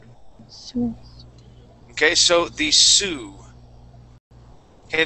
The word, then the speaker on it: Sioux: Now, this this word is pronounced Sioux, and the Sioux are Indians. Okay, they are Native American Indians, and this is what they look like. Sioux.